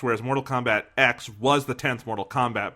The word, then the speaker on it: Mortal Kombat X: official title was it's supposed to be pronounced mortal kombat x not mortal kombat 10.